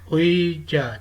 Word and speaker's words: 의자: Double vowel है उई, ये वर्ड का फर्स्ट सेलिबल हो तो ये प्रोनाउंस होता है एज ए उई, और अगर सेलिबल में इससे पहले कॉन्सोनेंट आए तो ये प्रोनाउंस होता है एज ए ई।